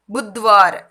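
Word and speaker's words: बुधवार: ஹிந்தியில் எப்படி ப்ரொனன்ஸ் பண்ணுறாங்கன்னு கவனிக்கணும். பூ புத் புத்வார். தமிழில் வந்து புத்வார்னு இருக்கும். அந்த மாதிரியே படிச்சிங்கன்னா அது தப்பாயிடும்.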